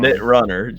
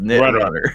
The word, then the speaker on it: Knit Runner: And let me know if I'm pronouncing any of these wrong. Nitrunner. Just Nitrunner.